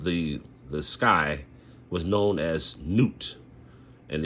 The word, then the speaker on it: Nut: sky, was known as Nut, and they spell it N-U-T, you know, so almost like nut, but it's Nut, and that represented the air.